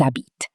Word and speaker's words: habitent: Ils habitent. They sound almost identical. Why? Because the endings E, ES, ENT are silent.